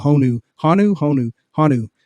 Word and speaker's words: honu: the uh they're called honu hanu honu hanu I think you pronounce it hanu uh the endangered green